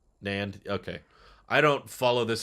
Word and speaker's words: NAND: actually storing the data you can pronounce it like the word and nand okay i don't follow